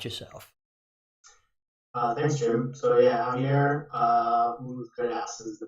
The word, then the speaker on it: Javier Ultreras: So yeah, Javier Ultreras is the pronunciation.